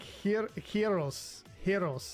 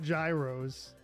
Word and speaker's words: gyros: Um, so it's like Hiro, that's how you say that. Not gyros.